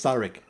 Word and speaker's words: Thalric: My name's Thalric. Thalric. There we go. Let's pronounce it that way.